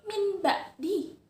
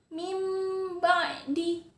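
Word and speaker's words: مِنْ بَعْدِ: harusnya kan bacanya min ba'di. Tapi karena huruf nun sukun bertemu dengan huruf ba, dia ditukar dengan bunyi mim. Jadinya mim ba'di.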